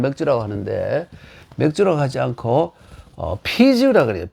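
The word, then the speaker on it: 啤酒: 일본이나 우리나라는 맥주라고 하는데, 맥주라고 하지 않고 피주라고 그래요. 피주. 이 맥주를 만들기 위해서 원래 이 비자죠. 이 글자를 만들어냈어요. 중국 발음을 하면 이렇게 피지오가 되는데, 만들어냈어요.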